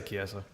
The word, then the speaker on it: Chiesa: You pronounced the last name right. I've been practicing Michael all day. Chiesa. I All think day. that is right. Now he's I say Chiesa.